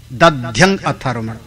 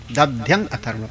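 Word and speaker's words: दध्यङ् आथर्वण: उनका असली नाम है अथर्वण, अथर्वंगण ऐसे नाम था उनका, थोड़ा कठिन उच्चारण में था। दध्यंग अथर्वण, दध्यंग अथर्वण ऐसे पढ़ा है ना, दध्यंग अथर्वण।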